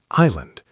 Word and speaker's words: island: Island, pronounced island, silent S.